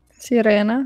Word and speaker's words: sirena: Sirena, like siren.